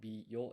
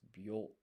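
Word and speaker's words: びょ: So this is not bi yo, it's byo.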